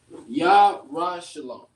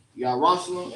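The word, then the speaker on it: ירושלים: For Jerusalem is Yarashalom. Yarashalom is how you say it in the ancient. Yarashalom is how you say it in the Assyrian.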